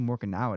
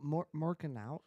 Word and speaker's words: Morikawa: Because if Scheffler wins, I need Morikawa to win, probably. Yes, Oh. yes. You need more. Yeah. Who Morikawa?